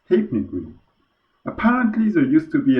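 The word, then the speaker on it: Halfpenny Green: service stephanie green information yep it turns out half penny green is actually pronounced hypnique apparently there used to be an old british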